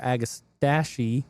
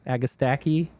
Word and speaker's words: Agastache: It's fine either way. Agastache, I hear both. Agastache, agastaki, whatever.